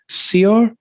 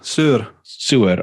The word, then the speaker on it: Saor: intensity of that, and then throws in the Saor is the way to pronounce it. Saor.